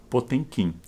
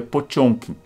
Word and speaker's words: Potemkin: Antes chamado o encouraçado potemkin dizem que em russo se pronuncia potion como eu não sei falar russo não posso nem confirmar para vocês o navio encouraçado potemkin